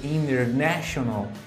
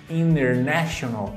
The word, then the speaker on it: international: Ou se eu digo international, international, a sílaba tônica está no NE, international.